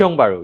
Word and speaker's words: Tiong Bahru: That's how it's said. Tiong Bahru, yes.